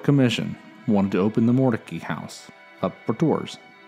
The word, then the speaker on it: Mordecai: around this time Moses also decided to change the pronunciation of his name he changed it for Mordecai to more tacky Jolene and Moses more